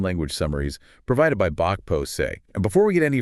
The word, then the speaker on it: pro se: It is pronounced pro se. Rhyming with day, never proceed.